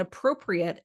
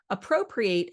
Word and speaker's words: appropriate: as a verb and appropriate as an adjective. And when I say those two words, even though they're spelled the same, appropriate has a different stress on its syllables than appropriate as an adjective.